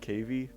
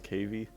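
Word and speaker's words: cavy: much about animals like I never knew a cave existed before I think that's how you say it cave or is it cavie I still don't even know I'm pretty sure it's cavie and oh I learned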